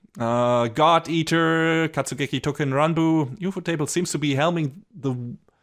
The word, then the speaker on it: Ufotable: I looked this up a few days ago, and if you read the katakana, it is indeed UFO table.